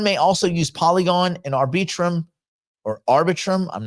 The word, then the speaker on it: Arbitrum: also use polygon and arbitrum or arbitrum I'm not sure how we pronounce that networks for certain well ARB probably ARB arbitrum arbitrum AR like arbitration arbitrum arbitrum we're gonna we're gonna